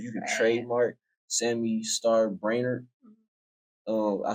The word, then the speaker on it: Brainerd: your name because you can trademark Sammy star brainer um I said it right right yeah there